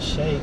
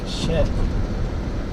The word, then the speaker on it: Czech: Not shake, Sheck. How do you say? What is the Shek shop known for? Not shake. Holy shit. Shek. CZECH shop.